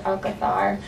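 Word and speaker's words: Alcázar: or there's a place called Alcazar but it's pronounced al Cathar so it's very heavy um and you'll notice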